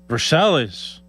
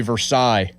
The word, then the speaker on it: Versailles: Every single one of us says Versailles the wrong way. Versailles. Supposed to be Versailles. Oh. But every single one of us says North Versailles.